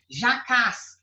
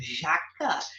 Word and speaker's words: jacá: Jacás. Jaca, professora, jaca? Jaca, eu sei o que é, professora. Jaca é uma fruta, é um fruto ali, ó. Pois é, mas tem jacá. Jacá são aqueles cestos, sabe?